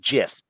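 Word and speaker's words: GIF: just so you know it is technically pronounced jiff um uh anyway so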